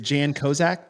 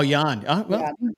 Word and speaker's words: Jan: at the bottom is is it Jan kak did am I saying okay Yan kak or Yan sorry oh Yan yeah that's I I'll don't